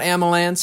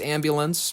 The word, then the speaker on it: ambulance: So, it's just, you know, it's not amalance, it's it's ambulance.